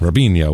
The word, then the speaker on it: Robinho: robinho oh close enough robinho which is it's Robin ho is how it's spelled r i b r o b i n ho o Robin ho robinho so we got robinho